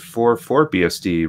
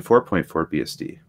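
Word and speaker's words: 4.4BSD: Oh someone else says I've also heard for for BSD rather than 4.4 BSD yes that is very common this I like Bruce's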